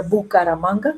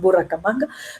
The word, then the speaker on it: Bucaramanga: Ahora la gente en congresos internacionales tiene que pronunciar con dificultad esta palabra Bucaramanga, que dicen Buracamanga, pero bueno, eso hay que hacerlo.